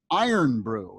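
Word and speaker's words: Irn-Bru: one of their big local drinks is called iron brew it's spelled ir yeah there it is and the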